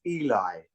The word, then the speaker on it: Elie: And my surname, is pronounced Elie. Oh, sorry. That's okay. Eli. That's okay. Eli. Lots of people get the pronunciation wrong, but it's pronounced Elie. Elie. I pronounce in the French, either with the French pronunciation, Eli.